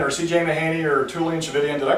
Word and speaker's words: Tchividjian: Mahaney or Tullian Tchividjian, did I pronounce his name right? No. Tullian Tchividjian? Tchividjian. Like religion. Dang it. Thought I got it right that time. Just think religion.